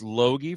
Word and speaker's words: Loge: I learned how to say his last name. It doesn't look like that, but it's Jace Loge from up in you're in the Bemidji area?